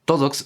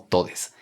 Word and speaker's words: todes: Esto significa que cuando vemos palabras escritas como TODXS, no vamos a leerlo como todox, sino como todes.